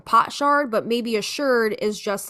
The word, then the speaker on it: sherd: Not a shard, a sherd. Right. So she's pronouncing it right.